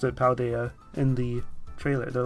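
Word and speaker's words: Paldea: don't uh jingle it well they say they pronounced it paul dia in the trailer they're like one of the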